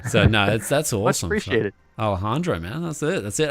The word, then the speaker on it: Alejandro: allah alandrio i said alondrio alandrio oh that's all right that's the aussie squeaky yeah yeah can you can you say it again alejandro alejandra the j sounds like an h yeah yeah so you